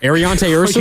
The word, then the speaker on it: Ariante Ursary: Should I say his name for you, Mark? Ariante Ursary? You got it?